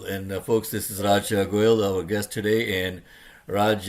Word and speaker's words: Goyle: spelling of no, my Goyle. father, when my late beloved father, when he immigrated, he realized that phonetically, Goyle in English is like Doyle, and so he said, "Hey, let's spell it Okay.